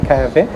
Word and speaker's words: Kahve: হ্যাঁ, কাভে actually pronunciation হচ্ছে ক্যাভে। সো এটা হচ্ছে Turkish Arabian word coffee, actually its meaning coffee.